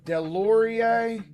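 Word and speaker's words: Deslauriers: Oh, dude, the one Delorier. Yeah, is the one big fighter. Am I saying his name wrong?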